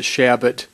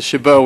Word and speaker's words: Chabot: would a gentleman yield for a second we pronounce it shabbat but okay you can pronounce the chabot which is the friend's pronunciation which is fine